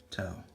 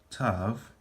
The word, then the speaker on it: Tav: Alright, and the final letter of the Hebrew alphabet, we made it, guys, is tau. And then you'll also hear it pronounced as tav.